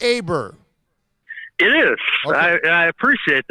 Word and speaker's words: Aber: how are you doing my man is it pronounced aber it is well I appreciate that a lot